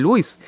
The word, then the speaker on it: Louis: cerro acá en uruguay entonces escribe ángulo de lewis y se pronuncia ángulo de louis no es el ángulo